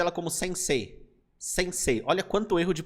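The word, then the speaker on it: 先生: Quando você tiver uma sílaba que tem nela a vogal E no final e temos aqui o I, a pronúncia será E, E. Então ele prolonga esse E.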